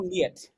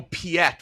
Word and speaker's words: Piet: Admiral Niet. Final answer? Yes. Close, Frank. It's Admiral Piet with a P. Admiral Piet.